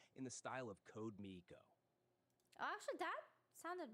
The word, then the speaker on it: Miko: This captures the playful and irreverent tone that Code Maiko often uses. Okay. Can we actually fix your pronunciation of Code Miko? It's Code Miko.